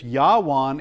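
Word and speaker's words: יָוָן: Yawan is how it's pronounced.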